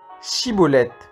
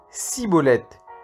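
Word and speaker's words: Schibboleth: S'il répondait non, on lui ordonnait de prononcer le mot Chiboleth. L'homme disait Ciboleth, car il ne réussissait pas à prononcer le terme correctement.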